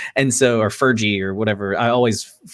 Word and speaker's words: Feige: of, like Star Wars, Mando and everything, Kevin Ferg. And so, or Fergie or whatever. Feige.